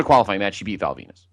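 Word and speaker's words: Val Venis: She beat Val Venus. And now this whole what? Rhymes with penis.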